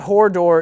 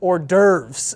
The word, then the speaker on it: hors d'oeuvres: So apparently it's not whore door, it's hors d'oeuvres.